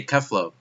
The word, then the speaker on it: Kefla: Cauliflower or Kefla, however you, I'm going to say Kefla, you know, even though it's spelled with an A because that's how the characters in the show say it.